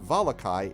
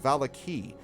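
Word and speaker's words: Vallaki: that is spelled v-a-l-l-a-k-i which for some reason is not pronounced volakai it's pronounced valaki so i'm thinking of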